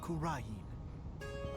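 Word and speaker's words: Kurain: of spirit mediums and mystery the kingdom of kurin so that's how you pronounce that but now the Flames of Revolution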